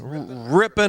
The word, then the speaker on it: Ripon: from Wisconsin I guess Rippon is how I would pronounce it but I'm a native well you're kind of